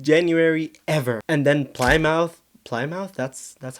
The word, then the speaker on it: Plymouth: And then, Plymouth Plymouth, that's that's how it's pronounced. Anyway, Plymouth had its wettest January in 104 years.